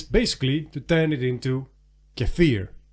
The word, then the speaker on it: kefir: to turn it into cafir English speakers May pronounce that Keir because you know why not and this is